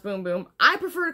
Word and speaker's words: Bum Bum: a boom boom creme which it looks like bum bum pronounced boom boom I prefer to call it bum bum I'm gonna be real honest with you here but it is boom boom and um it's from